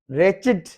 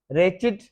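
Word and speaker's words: wretched: रेचिड, unlucky, unhappy person, रेचिड, W silent है।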